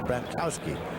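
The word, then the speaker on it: Bratkowski: And I went to the locker room one day and said, "How do you pronounce your name?" He said, "Brattowski."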